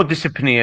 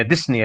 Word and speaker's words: dyspnea: البيشنت هو مو ديسبنيا ديسنيا البي ما تلفظ هنا البي.